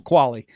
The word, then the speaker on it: Qualley: I remember I saw her in an interview and she said it's pronounced like Wally, but with a Q. Okay. Well, Qualley.